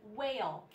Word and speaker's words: whale: here with the in whale the what in whale makes a w sound but the H is silent the H is silent